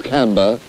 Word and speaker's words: Camber: here in canberra making i don't know that's the correct pronunciation you british people do have some weird names i think it's camber and we're making a